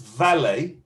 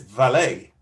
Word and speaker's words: valet: about it right now because it's french we're going to lose this final t sound so good so in british english it's vale vale what about in american english i think they pronounce t at the end ah possibly but i've heard in american english as well like this valet valet parking so one thing that